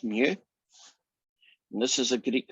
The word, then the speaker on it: mu: is standard deviation oversaw this is the greek letter which you pronounce as mu and this is a